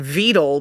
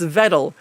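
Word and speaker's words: Vedal: creator uh Vettle I it's so hard not to call him Vele because he can't get Nurero to pronounce his name right. So I keep wanting to say Veto. It's Vettle.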